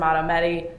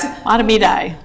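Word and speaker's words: Mahtomedi: Sometimes this can line up with the rates in the sense that you see Circle Pines and Matamedi, excuse me, that pronunciation may be incorrect. Matamidi. Matamidi, thank you.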